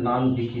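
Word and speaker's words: 何匹: নান মানে হচ্ছে কয়, নান যোগ হিকি, হিকি আসবে এর সাথে ইউনিট হিসাবে, কিন্তু উচ্চারণটা চেঞ্জ হয়ে যাবে। ন এবং হ থাকলে ব হয়ে যায়, তাহলে এখানে নান বিকি হবে।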